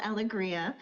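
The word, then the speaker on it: Alegria: My name is Aliggria and it is spelled A L E G R I A.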